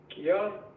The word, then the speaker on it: Ioan: Ioan. Ioan? Yes, Ioan. It's spelled I O A N.